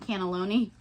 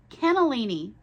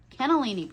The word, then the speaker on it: cannellini: to get anyway connect oh sorry canelli not cannelloni Kel Ken nalini cannellini cannellini Bean pronunciation's hard and then